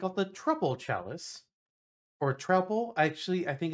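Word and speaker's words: Troupple: the trle Chalice or trle actually I think it's how it's supposed to be pronounced I I've learned recently because it's trout plus Apple so that's appar actually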